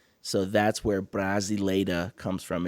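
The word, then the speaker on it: Brasileira: And just for the viewers, Brazila is spelled B R A S I L E I R A. Brazila.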